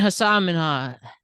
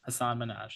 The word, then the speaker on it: Hasan Minhaj: Regardless, comedian Hasan Minhaj. That's his name. Yep, Hasan Minhaj. Yeah. I will stop with the mispronunciations today.